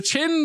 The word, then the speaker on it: Qin: it ching with a Q yes it's the Chin Dynasty oh oh good I will have you